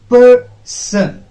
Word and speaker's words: Person: Person. Okay, now if this is the case, if there is a two syllable noun, in such a case a stress has to be put on at first syllable.